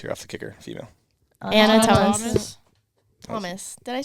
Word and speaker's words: Ana: Is it Why is it Anna or not Anna? What is the difference? It's ANA, Anna. the way it's spelled.